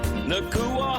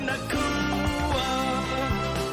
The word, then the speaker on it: Nacua: Puka Nacua. Fantasy assassin, it's the time to cash in. Yeah, it's Puka. Don't need the glove. Don't need the glove. His quarterback is not named Tua. Yeah, rhymes with Nacua.